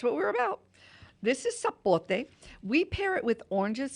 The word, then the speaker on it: sapote: My husband pronounces it sapote. But it's called sapote.